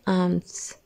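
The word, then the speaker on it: alms: English में कहते हैं आर्म्स एल को हम साइलेंट करेंगे यहां और हम इसे बोलेंगे आर्म्स की इंग्लिश है अब्सोल्यूशन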